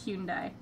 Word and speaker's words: Hyundai: it was in a human die commercial or Hyundai or however they say it yeah I've got no clue I've heard it pronounced like ten different ways if it's Japanese it's the correct pronunciation is Hyun die gotcha I'll keep note of that we have